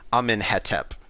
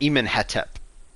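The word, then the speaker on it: Amenhotep: to cope with that what we do is we pronounce all the words with an e in between the consonants so you might have seen things like amin hetep or iman hetep instead of amun hotep um and that's on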